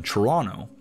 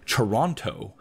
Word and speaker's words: Toronto: That is, by not pronouncing the second T, as in Toronto, as opposed to Toronto, which is how most people who are not from here pronounce it.